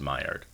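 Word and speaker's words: Maillard: and fried meat wait what do you mean it's pronounced myard and anyway to test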